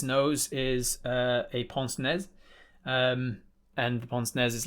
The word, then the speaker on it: pince-nez: On the end of its nose is a pince-nez, and the pince-nez is like gold-rimmed. Pince-nez, I think they're pronounced.